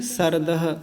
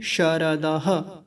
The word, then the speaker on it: शारदः: आगे है शारदः। शारदः में ये तालव्य शकार का विशेष ध्यान रखना होता है। कुछ लोग बोलते हैं सरदः, सरदः नहीं, शारदः, ऐसा करके।